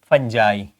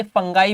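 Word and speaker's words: fungi: Third type is फंगस, है ना, फंजाई। Okay, फंगाई भी इसका प्रोनाउंसिएशन है। In American English this is फंजाई, in British this is फंगाई।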